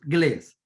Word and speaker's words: Gles: So I'm from Colombia, so we pronounce Glees.